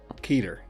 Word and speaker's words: Keter: Keter, because that's how you fucking pronounce Grigori, actually, this is true, can't be wrong about this because it's Jewish.